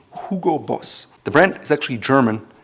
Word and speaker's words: Hugo Boss: In the US, oftentimes it's called Hugo Boss, but the proper pronunciation is Hugo Boss.